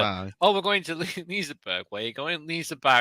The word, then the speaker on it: Liseberg: Just make sure you pronounce Lisa Barry right to the people in Sweden. They don't like Lisa Barry. Why are you here? Barry. Oh, we're going to Liseberg.